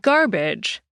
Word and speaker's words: garbage: In English, we say garbage, emphasis on the gar, and hardly saying the sound in badge at all.